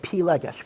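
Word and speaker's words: פילגש: Am I pronouncing that right? Yeah, pilagesh.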